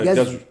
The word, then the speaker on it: Gazut: le T, on dit Gazut.